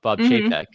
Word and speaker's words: Chapek: Like, years ago, people didn't like him, and then the other Bob Chapek. That's how you pronounce it.